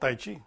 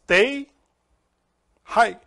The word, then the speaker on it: Tai Chi: And they said the pronunciation is not Tai Chi. It's Tai Hai.